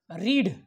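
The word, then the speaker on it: read: पण याच्यात गडबड अशी आहे मित्रांनो की जेव्हा त्याचा उपयोग तुम्ही दुसरं रूप म्हणून करता तेव्हा त्याचा उच्चार तुम्हाला तिथं रेड करावा लागतो.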